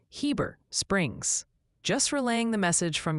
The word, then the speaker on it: Heber Springs: Seems the overwhelming verdict for Heber Springs, Arkansas is definitively Heber Springs.